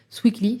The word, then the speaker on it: Swikly: Si on veut aller plus loin sur ça, on peut s'adosser de certaines solutions qui existent comme Sweekly, c'est une solution de caution. Sweekly? Voilà, c'est ça. Et ça s'écrit SWIKLY.